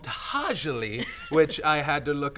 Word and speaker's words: To'hajiilee: It's called Tahajali, which I had to look up how to pronounce.